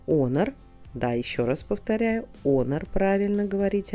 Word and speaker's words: Honor: Да, еще раз повторяю, Honor, правильно говорить, а не Honor.